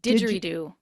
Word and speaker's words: didgeridoo: How somebody selects an instrument like the accordion and now how do you pronounce that again? The Didgeridoo.